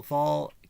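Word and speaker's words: Wahl: spelt as Saul, W-A-L-H, where the W in German is pronounced the same way that the V is pronounced in English.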